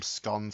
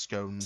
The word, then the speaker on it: scones: the existence of sces is it SC or SC it's uh it's both but it depends where you're from um I my dialect calls them scon but they really probably are pronounced scones scon scon The Sounds